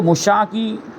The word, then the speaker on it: مشاع: تو سب سے پہلے تو مشاع کے بارے میں جاننا ہے کہ مشاع کہتے کسے. یہ اس کا تلفظ دیکھیں، مشاع آخر میں کیا ہے، عین.